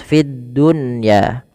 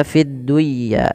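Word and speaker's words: في الدنيا: Fiddunya tidak dibaca fidduya tapi fid dunya.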